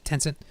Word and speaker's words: Tencent: They've been supplying, they've been supplying AI services to Alibaba, Baidu, Tencent. Am I pronouncing that right? Yes. Tencent.